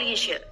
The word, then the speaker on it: leisure: Berikutnya, pada kata leisure. Di situ ada simbol baru, jadi seperti angka 3, tapi tidak ada D di depannya. Itu bacanya adalah sh, leisure.